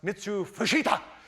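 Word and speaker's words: Mitsuo Fuchida: a a Japanese commander by the name of Mitsu Fushita coming to Maui to speak or actually Michael upstairs in the control room. He says, "I need to pronounce that name correctly." And it's pronounced Mitsu Fushita.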